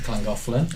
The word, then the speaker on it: Llangollen: You got to know how to say it properly. It's Llangollen.